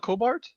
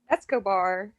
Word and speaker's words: Escobar: How do you say it? Cobart? Escobar.